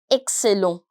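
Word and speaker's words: excellent: looks like exactly the English word but the pronunciation is slightly different and that is exelo ex Exel Exel EX ENT Exel again an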